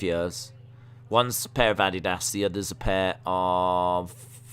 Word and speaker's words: Adidas: That's the Adidas word that Days says. That's how it's pronounced here. That's how we pronounce it. I know you lot say Adidas, but we say Adidas.